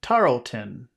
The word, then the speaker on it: Tarleton: Order of the Okay, then we have this is a family name, Tarleton. Tarleton. Tarleton. Tarleton, Tarleton. Where is the accented syllable in that name? Tarleton. This the first Tarleton, The first syllable, Tarleton.